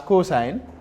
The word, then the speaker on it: cos: also abbreviated as cos c o s but pronounced as cosine tangent is the third one abbreviated as t